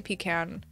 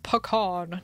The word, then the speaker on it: pecan: me up at night I say pecan none of this pecan nonsense I'm not gonna